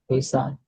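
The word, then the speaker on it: Ihsan: Yeah, you pronounce correctly. Isan, you can pronounce the H or not? Isan.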